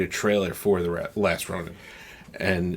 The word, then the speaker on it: Ronin: I believe it's pronounced Ronin.